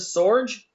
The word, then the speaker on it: Sorge: I mean, your name rhymes with George, and Right. that's kind of, but it's Joseph Sorge.